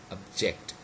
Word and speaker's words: object: i object this proposal you say object so look at this word it is used as a verb and the second syllable is stress instead of the first the second one